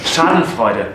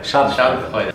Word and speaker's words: Schadenfreude: Schadenfreude. Schadenfreude.